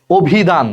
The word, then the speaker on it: অভিধান: যেমন দেখো অভিধান, দেখো শব্দের একদম প্রথমে অ আছে, এটার উচ্চারণটা কি? অভিধান। অভিধান দেখো ওর মতো হয়ে গেছে, কারণ অর পর হ্রস্ব ইকার আছে, অর উচ্চারণটা ওর মতো হয়ে গেছে, এটার উচ্চারণ হবে অভিধান।